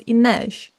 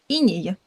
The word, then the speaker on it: Inej: Fun fact, I only recently found out that that is apparently the pronunciation of her name. Since she was from Ravka, Bardugo's fancy Russia ill, I thought her name was supposed to be Inyy, as in frost or rime in Russian, which is transliterated exactly as her name is spelled in text.